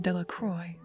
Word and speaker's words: Delacroix: Bobby and Harry Jones and Dickie Delacroix, the villagers pronounced his name Delacroix, eventually made a great pile of stones in